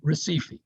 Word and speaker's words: Recife: h yeah they do they pronounce the r like an h okay all right any